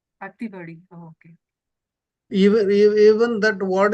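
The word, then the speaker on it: ଅତିବଡ଼ି: But here in Odisha, that is pronounced as Atibadi. Atibadi.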